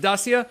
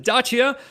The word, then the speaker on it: Dacia: uh i'm jar jam i pronounce it dacia he's relic he's pronounced dachia but one way or